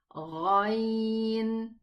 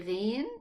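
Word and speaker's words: غين: Yes, it is a Ghain. Again, one more time. Ghain. Okay, don't say Ghain, it's Gha.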